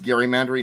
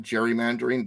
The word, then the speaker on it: gerrymandering: what Gary Mandarin and it is pronounced Gary mandary not gerrymandering drives me nuts when